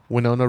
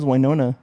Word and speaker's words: Winona: Michael Keaton Jenna Ortega Winona Rider is that how you say it that wiona no it's winon damn well I've been